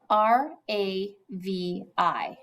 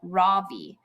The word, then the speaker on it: Ravi: R-A-V-I. Mrs. Beam has been calling him Ravi, but when he introduced himself earlier, I'm pretty sure his name was Ravi, with the accent on the second syllable.